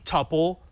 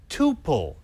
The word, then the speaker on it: tuple: You can say tuple, you can say tuple. It doesn't matter. Both are accepted.